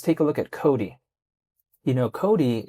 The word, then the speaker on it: COTI: Cody, it's spelled COTI, but remember quite a